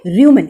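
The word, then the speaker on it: rumen: क्या बोलते हैं, र्यूमन, इसको प्रोनाउंस करेंगे र्यूमन।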